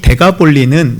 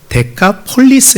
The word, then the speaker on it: 데카폴리스: 건너편의 동쪽에 있는 도시입니다이 데가볼리 정확한 발음을 하면 데카폴리스 있니다이 데카라 것은이 10이라는 숫자고